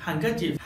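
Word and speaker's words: handkerchief: Friends, कुछ ऐसे words हैं जहां पर डी साइलेंट होता है, जैसे हैंडकरचीफ हैंडसम वेनेसडे और ग्रैंडसन।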